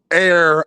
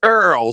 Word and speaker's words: Errol: It's Earl, son. It's Earl. Like Earl. Just just Earl.